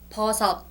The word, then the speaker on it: 버섯: So it's got a T sound at the end and an S sound in the beginning. That's a little bit confusing when you first learn Korean, so kind of remember that.